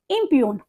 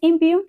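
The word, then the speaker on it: impugn: इज नाउ ये देखिए यहां प जी साइलेंट होगा यहां प क्या होगा जी साइलेंट होगा तो हम इसको कैसे प्रोनाउंस करेंगे इसको हम कहेंगे इपन व्हाट इज इट इट्स इपन हां इसको इपन बोलेंगे ये एक वर्ब है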